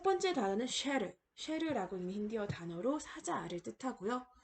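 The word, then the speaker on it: शेर: SH 찍은 셔에다가 에라는 모음이 붙어서 쉐라고 읽을 수가 있고요.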